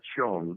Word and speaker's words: Zheng: Olivia Chung, even though it's spelled Zheng, that's how she pronounces it.